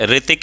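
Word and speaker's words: Hrithik: ग्रह दशा थी जिसे रितिक एक नाम है तो कई लोग हा आर आई टी आई के लिखने हैं हा आर आई टी आई के तो ये हा साइलेंट नहीं है रितिक की स्पेलिंग होती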